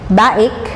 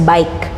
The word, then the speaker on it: BAIC: Then ito naman kung mapapansin mo B A I C baik pero ang correct pronunciation talaga niyan is bike like bicycle ganyan.